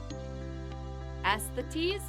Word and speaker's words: aesthetes: Aesthetes? I might need some help on the pronunciation.